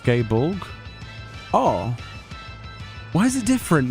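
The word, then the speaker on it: Gáe Bolg: yeah oh the draon weapon is definitely pronounced gay Bor oh why is it different then is it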